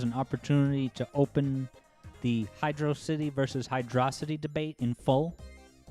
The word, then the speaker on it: Hydrocity: this here zone is they say, like, no, but don't you get it? It's water, hydro, and a city, so it has to be Hydrocity.